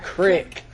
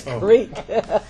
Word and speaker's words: creek: It's not crick. It's creek.